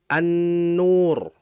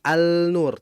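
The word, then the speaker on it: النُّور: Kalau kita masukkan lam mati berarti dibaca an-nur. Bukan al-nur tapi an-nur.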